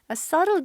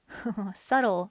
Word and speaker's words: subtle: 음파의 subtle dance니까 아주 미묘한 댄스예요. subtle, 미묘한. 이때 B는 묵음입니다. subtle이라고 하면 안 돼.